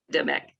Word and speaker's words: Apedemak: to the gods Amun and, sorry if I mispronounce, Apedemak. Demek.